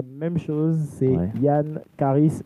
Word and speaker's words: Charis: Yann Charis, C-H-A-R-I-S, tout collé, Y-A-2-N, Charis, C-H-A-R-I-S, comme le rappeur, ça se prononce.